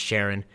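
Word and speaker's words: Charon: It's pronounced Sharon, which was assigned to gather raw genetic material from the battlefields of the ancient Greeks.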